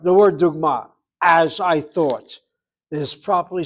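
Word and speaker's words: דוגמה: The word is pronounced dugma.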